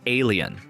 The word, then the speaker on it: A'Le'Inn: What Rachel does have is the Little A'Le'Inn, pronounced alien, which has served as the town's bar, restaurant, motel, gift shop, and unofficial alien research hub since around 1989.